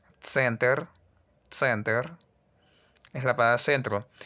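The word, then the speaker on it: центр: Hay como una pequeña vocal ahí. No se escribe, pero se pronuncia, ya que el ruso no permite, como a diferencia del francés, decir center. No dice, el ruso dice center. No, no, no. Suena muy, muy feo. Es simplemente center.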